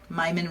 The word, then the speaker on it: Myman: Myman rhymes with Ryman.